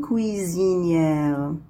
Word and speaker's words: cuisinière: Ici, cuisinière. Ici, S est prononcé Z. Pourquoi? Parce qu'il se trouve entre deux voyelles.